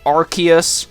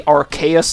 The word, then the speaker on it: Arceus: in the video itself I mispronounced the pokemons name Arceus I knew that the way you're supposed to say it is Arceus or possibly Arceus now both of which